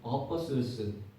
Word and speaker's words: apostles: apostles. T는 묵음입니다.